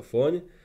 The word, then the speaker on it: Fóny: Pôjdem na skladačke z redakcie Fóny.sk do dedinky Fóny v Maďarsku, vyslovuje sa to Fóň, a stále budem mať pri sebe tieto dva produkty.